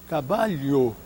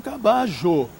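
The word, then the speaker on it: caballo: correspondência fonética dessa forma os espanhóis de Madrid dirão cabalho não é Os argentinos dirão cajo e em alguns países hispano hispano-americanos dirão cabayo então a pronúncia é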